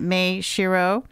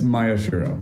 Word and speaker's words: Maeshiro: pronouncing your name correctly is it may Shiro it's Maya shirro Maya Shir shirro okay